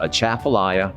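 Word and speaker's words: Atchafalaya: difficult when you look at it but it's pronounced a chaffelaia basin and it's a large body of water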